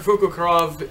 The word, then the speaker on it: Fukukrov: So far as I know, it's pronounced as Fukukrov, and it's based on like a Russian owl. But Dr. Fukukrov is, like Tails, is a mechanical genius.